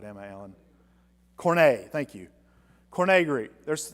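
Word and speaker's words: Koine: there are Okay, the Bible is written in Corno Greek. And there's a couple of interesting things about Cornogreek that are I'm not pronouncing that right. Am I Allan? Corna.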